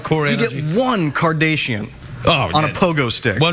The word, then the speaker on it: Kardashian: Why are you saying Kardashian? How do you say it? It's Kardashian. You're like one of those newsreaders that says Nicaragua, like that. Right. You're saying Kardashian.